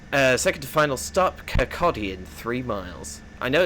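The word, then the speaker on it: Kirkcaldy: Next uh second to final stop, Kcotti in three miles. I know it's spelled Kaldi, but it's Kotti.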